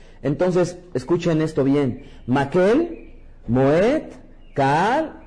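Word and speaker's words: מועד: Pronuncien conmigo, moed.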